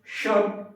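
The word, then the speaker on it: should: कैन कुड शुड वुड उच्चारण करते समय ध्यान रखना एन यहां पर साइलेंट होता है कोल्ड सोल्ड वुड आपको नहीं पढ़ना है। कुड शुड वुड may must might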